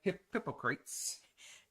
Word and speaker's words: Hippocrates: Hippocrates. Oh, you said it right. Hippocrates.